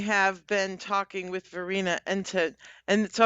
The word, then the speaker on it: Entenwirth: I have been talking with Verena Entenwirth, and so I'm going to say it the actual correct pronunciation, Entenwirth.